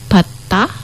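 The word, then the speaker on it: 받: Contoh bata misalnya gitu. Bat itu artinya menerima, bata. Jadi kan tadi bacanya bat. Jadi T bukan bad. Nah, bat gitu.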